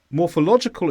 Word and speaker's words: morphological: which is more specific morphological is an adjective and the stress is on law morphological and in the main meaning